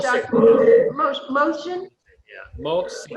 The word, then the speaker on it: Mohsin: I always say Mohsin. It's Mohsin. Dr. Mohsin? Yeah, Mohsin.